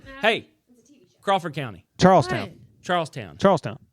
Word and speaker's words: Charlestown: Charlestown no you did you didn't say it Charlestown you said Charleston Charleston it's not it's Charles Town there's Charleston West Virginia is it spelled the same no no t n versus T WN Charles Town is here